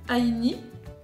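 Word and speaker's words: Ainy: C'est un gommage de la marque Aini, ça s'écrit A-I-N-Y.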